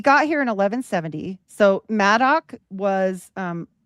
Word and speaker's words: Madoc: So Madoc was like, here they either spell it Mad Dog, but it's like sounds like